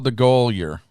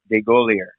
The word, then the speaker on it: Degolyer: Degolyer. Yes, it's spelled exactly the way it sounds. Degolyer. I don't know why a lot of people put the Y before the L, but it's Degolyer.